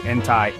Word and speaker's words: enti: If you're talking to a girl like I am to you, Ila, I'd say enti auntie with an i sound at the end.